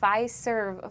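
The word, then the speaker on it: Fiserv: Delaney Ferve Forum. Our digital manager, Carrie, said that I was saying it with a Z. So, I now I'm really trying hard to make that S sound fer for him.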